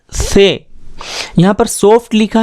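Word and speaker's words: ث: से, जो दोनों दांत हैं उनके बीच में ज़बान आ जाएगी और बहुत हल्की आवाज़, बहुत सॉफ्ट आवाज़ में आप इसका प्रोनाउंसिएशन करेंगे से।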